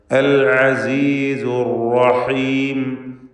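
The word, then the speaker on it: الْعَزِيزُ الرَّحِيمُ: അൽ അസീസുർ റഹീം. റാഇന് തടിപ്പിച്ച് തഫ്ഖീം നൽകിക്കൊണ്ടുള്ള ഉച്ചാരണമാണ്. തഫ്ഖീമോടെ ഉച്ചരിക്കുക. എന്നാൽ ശദ്ദുള്ള റാ ആയതുകൊണ്ട് വിറപ്പിക്കാതെ അർ എന്നിങ്ങനെ വിറയൽ വരാതെ സൂക്ഷിക്കേണ്ടതാണ്. അൽ അസീസുർ റഹീം.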